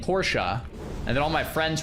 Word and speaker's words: Porsche: Oh, another one is Porsche versus Porsche. Yeah, I grew up saying Porsche and then all my friends were like, "No, it's Porsche."